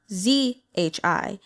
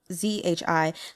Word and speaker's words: zhi: and then we have zhi so Z is going to be pronounced like the letter j j like um I